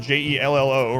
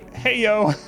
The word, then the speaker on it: Jell-O: word would be hey hey yo the j would be like an h the double l be like a y hey yo what's your